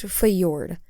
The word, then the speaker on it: Fjord: Okay, it's pronounced Fjord.